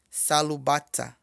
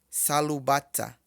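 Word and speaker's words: sálúbàtà: Chinelo pronuncia-se salubata. Salubata. Tá vendo que o S não tem marcador embaixo? Então ele tem som de S. Salubata.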